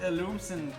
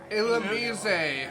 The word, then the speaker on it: Illumise: Illumsen, the other one, the lightning bug Pokemon. Volbeat and Illusion. Illumise.